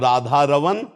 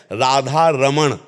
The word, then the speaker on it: राधा रमण: रवन सकल सुख दमा और शुद्ध शब्द है अगरम उच्चारण करते हैं राधा रमण राधा रमण और राधा रमण राधा रमन ना को हटा के ना ब्रज भाषा में ना का ही प्रयोग तो हमें चाहिए कि